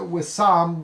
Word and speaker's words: Wissam: They pronounce it Wissam because I'm getting it in a little bit different.